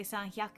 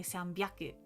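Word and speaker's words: さんびゃく: I remember this bit because because you never say sanyaku. You say sambaku.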